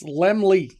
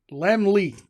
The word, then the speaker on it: Lemley: Let me I was pronouncing Lemley court wrong for many years. It was embarrassing. I called it le and they're like, "It's it's Lemly." Lemly.